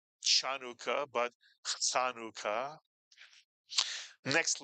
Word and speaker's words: Chanukah: Anytime you see a CH in English transliteration of Hebrew, it is pronounced not ch, and therefore this word is not Chanukah, but Chanukah.